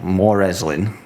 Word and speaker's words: Morezlyn: And the one that I made up just by juggling loads of letters up, More Reslin. More Reslin? Well, it's spelled Morezlyn. Oh, God, okay. the hipster way, yeah. So Morslin, whatever you want to call it.